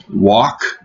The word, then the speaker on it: walk: Walk. Into L. Не произносится, я не слышу, что произносится.